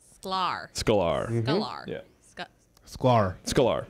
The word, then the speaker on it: Sklar: Sklar. Where does the emphasis go? There's none. Just Sklar. It's fine. It's all right. It's one syllable.